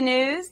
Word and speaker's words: gnooze: Hello and welcome to the gnooze. The G is silent.